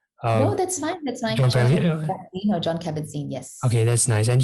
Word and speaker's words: Kabat-Zinn: I probably mispronounced his name. No, that's fine. John Kabat-Zinn, yes.